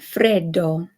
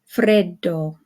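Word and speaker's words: freddo: and then we have the Double D in Fredo Fredo okay so you hold it just a little bit longer than if it were just one D and then we of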